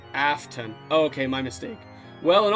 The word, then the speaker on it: Afton: His name is pronounced Afton.